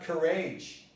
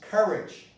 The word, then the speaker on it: courage: But in courage, the stress is different. The stress is not courage. It's courage. If it is courage, well, you know, the OU is a problem, but you've dealt with it in the pronunciation of O. But now, when you see courage, you know that the O can be pronounced here as a schwa.